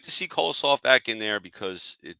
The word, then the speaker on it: Kolosov: I'm going to end up saying Coleslaw because that's what I keep wanting to say when I say his name. Alexei Kolosov came in the game, played very well.